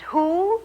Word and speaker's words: who: the first alfred book and who rhymes with shoe shoe our next spy is